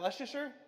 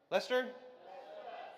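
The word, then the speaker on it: Leicester: How do you say, is that Leicster? Lester. Lester.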